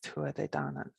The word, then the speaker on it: Tuatha Dé Danann: and then tribe of the goddess danu is tua de dana and the goddess danu is one that we